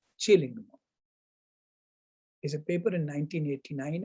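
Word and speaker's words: Killingmo: written as killing mo but actually i found out pronounced as chilling is a paper in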